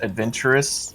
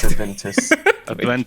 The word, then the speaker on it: Juventus: lot of people's uh will mispronounce uh mine as adventurous but it's just Juventus yeah yeah that's kind